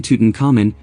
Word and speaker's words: Tutankhamun: Tutankhamun Egyptological pronunciation Tutankhamun, commonly referred to as King Tut, was an